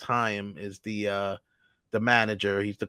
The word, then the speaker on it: Chaim: Chaim, and it's pronounced Chaim, is the manager.